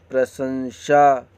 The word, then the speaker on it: प्रशंसा: प्रशंसा, लेकिन देखिए यहाँ पे सा का उच्चारण बीच में शरीफा वाला सा रहेगा, यहाँ पे सरोता वाला सा लिख दिया है।